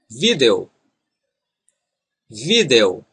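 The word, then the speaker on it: vídeo: Northeast in this region the letter D is pronounced as in English as in the word day and the ending e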